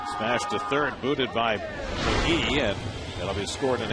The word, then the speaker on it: McGahee: It's McGahee, right? It's pronounced McGee. McGee, but yeah. But it's spelled McGahee.